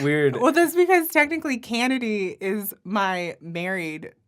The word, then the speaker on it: Cannady: Cannady. I always pronounce it weird. Well, that's because technically Cannady is my married name.